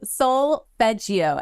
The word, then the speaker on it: solfeggio: It's called solfeggio, and it's SOLFEGGIO. Solfeggio. Okay. It's solfege.